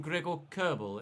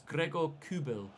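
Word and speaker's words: Gregor Kobel: topologies as well for pronouncing kubel's name incorrectly I've been calling him Greg or Kerbal and it's not it's Gregor kubil see Detroit good block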